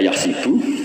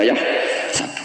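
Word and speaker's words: يحسب: Karena dalam qiraah sab'ah ada yang baca yahsibu, qiraah kita baca yahsabu. Tapi guru-guru kita kalau ngajar fikih itu bacanya yahsibu. Tapi kalau baca Quran yahsabu. Ya kan Quran kita kan ayahsabu Allah yaqdiru alaihi ahad, bukan dibaca ayahsibu.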